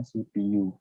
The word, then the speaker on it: CPU: ada yang namanya CPU tulisannya CPU ya Tapi bacanya shippu nah CPU ini fungsinya